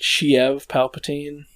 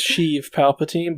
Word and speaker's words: Sheev Palpatine: it's just like naboo i like when people pronounce it shiev palpatine what so his name is sheev palpatine but it's got it's s-h-i-e-v and i've heard